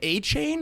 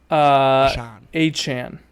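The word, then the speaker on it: Achane: Devin, is it A-Chain? How do you say it? Devon A-Chan.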